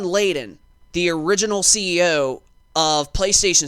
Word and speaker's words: Layden: I keep saying Lady or Lading or whatever. But Sean Layden, the original CEO of